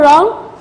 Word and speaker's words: wrong: 4 wrong. Wrong. This is also wrong. W. W is also silent word. We won't pronounce it.